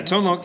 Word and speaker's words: Tone Loc: Yeah, it's Vanilla Ice, Tone Loc. Am I pronouncing that right? Yeah, no, you're right. Yeah, Tone Loc.